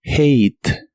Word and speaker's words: hate: de inglés es hate la H se pronuncia como una J suave de español y la la a de esta palabra se pronuncia como ei y la e del final no se pronuncia lo cual es muy común en inglés hate hate en el